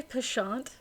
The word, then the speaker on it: penchant: Did you just say pashant? Yeah, that's the French pronunciation. Who gives Who cares about the French? I'm sorry. That threw me off so badly. I'm so used to pension.